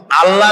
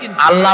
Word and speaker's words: আল্লাহ: কি গুণাবলীতে বিশ্বাস আল্লাহর নাম আল্লাহ বলেন তো আল্লাহ নয় কিন্তু আল্লাহ হচ্ছে অশুদ্ধ শুদ্ধ হচ্ছে আল্লাহ বলার সময় মুখটা